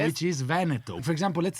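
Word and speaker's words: Veneto: So British will say vento and Americans say venetto. Venetto. That is a blasphemy.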